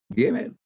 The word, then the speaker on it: gimel: Gimel.